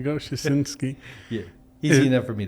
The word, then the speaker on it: Styczynski: to say a name but it's chin ski stachinski there you go shisinski yeah easy enough for